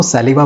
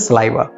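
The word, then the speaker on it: saliva: इसको सैलिवा बोलते हैं। लेकिन दोस्तों, इसे हम बोलते हैं सलाइवा।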